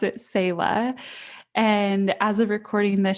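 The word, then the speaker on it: Selah: um so lots of people have been saying sila or cella and we pronounce it sayla and as of recording this she's just over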